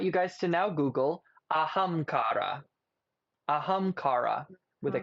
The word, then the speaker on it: Ahamkara: I want you guys to now Google ahamkara. Ahamkara with a K. You got to spell that.